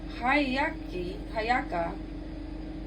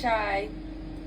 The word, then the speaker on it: Hiiaka: Anyways, she penned for Loa and realized she could not do without him, and sent her trusted sister Hayaka, it's Hiiaka, on the perilous journey to the neighboring ice of Kai to get him.